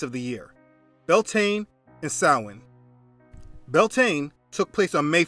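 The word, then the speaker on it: Samhain: Sin means summer's end. Just Google sin, summer's end, and you will see the date each year. Now, the word doesn't look how it's pronounced.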